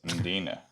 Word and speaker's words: Mdina: But it's not Mdina, it's Mdina. Yeah, that's true. They just said Dalkey instead of Dalkey. Just pronounce the L.